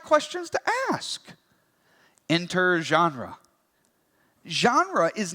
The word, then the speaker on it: genre: like the word Ginn read but it's actually pronounced genre so it's you know makes you sound a